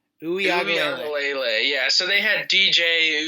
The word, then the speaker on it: Uiagalelei: I don't know how to pronounce his last name. Yeah, does anyone know how to say that? It's like Uiagalelei. Uiagalelei.